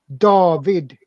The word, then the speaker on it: David: David stay a day did right but we pronounce it dahveed Javed yeah yeah see now that's like in